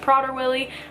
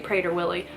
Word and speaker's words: Prader-Willi: My brother was born with a rare genetic disorder called Prader-Willi syndrome, and some people pronounce it Prader-Willi. I say Prader-Willi. Prader, it's the same freaking thing.